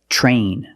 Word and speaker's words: train: say TR or three use the CH plus the r the voiced R sound ch ch train truck